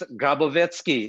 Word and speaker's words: Grabovetskiy: name is alexander and don't even try to pronounce my name okay it's grabovetsky it's impossible i thought they're going to build